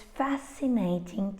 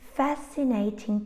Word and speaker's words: fascinating: And all these words have a silent C. It's very common to find a silent C when it appears after an S, because they are both sibilant sounds, and it's like the